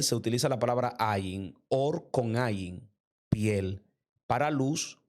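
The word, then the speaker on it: אור: vestimenta de piel, porque la palabra luz y piel en el hebreo se pronuncian igual. Se dice or. Las dos se pronuncian igual, pero hay una de ellas que tiene una alef, otra tiene una ain. Dos letras inician con dos letras diferentes, pero suenan igual.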